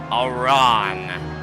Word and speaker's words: Aran: Samus Aran. Is here. We are getting close to Metroid Prime 4 coming out. Samus. Looking to rep herself and her franchise well tonight. It's pronounced like the name Aaron.